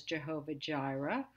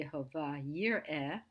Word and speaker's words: Jehovah Jireh: So the first we pronounce maybe as Jehovah Jireh. It's actually Jehovah Yireh.